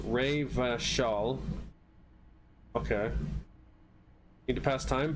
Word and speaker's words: Revachol: O Riverall is pronounced Ray Vashall.